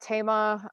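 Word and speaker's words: Thema: dot Tama th e ma it looks like SEMA but it's pronounced Tama like Tama Lyon and she's also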